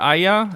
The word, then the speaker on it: Aeaea: I am from the server Aya, but everyone's memeing about it like I, because it's spelled AEAEA.